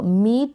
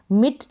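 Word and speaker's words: meet: और टी को ट मीट का मतलब है मिलना मीट मिट नहीं पढ़ेंगे इसको मीट पढ़ेंगे क्योंकि लॉन्ग ई की बात हो रही है यहां पर और ई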